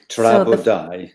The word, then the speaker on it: Tra Bo Dau: Chris, are you up for some Welsh pronunciation? Sure. Fire away. Okay, right. Tra Bo Dau. Tra Bo Dau.